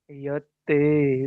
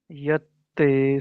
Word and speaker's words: यत्ते: यत्ते सुजात, दो ता है ना भैया, एक ता पूरा एक आधा भी है, आपको अगर भैया भी स्पष्ट आवाज हो।